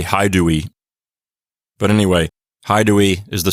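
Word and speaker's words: Haedui: H here and say Haidui. But anyway, Haidui is the same as Idui. Either way, I don't think the H was pronounced very strongly at the beginning of a word, so it probably sounded something like Idui anyway.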